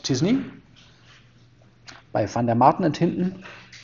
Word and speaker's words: t-SNE: and the successor that's the famous disney tsne pronounced disney by van der marten